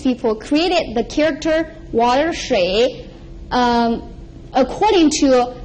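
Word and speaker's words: 水: It's pronounced shui, water, water.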